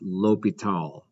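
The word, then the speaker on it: L'Hôpital: i'm not really sure the s is silent though it's it's pronounced l'hopital okay all right so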